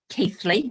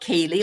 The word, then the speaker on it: Keighley: based just outside Bradford in keighley and it's pronounced Keithley not Keeley like everybody thinks um so Steve my husband and I started in property did some training back in 2017.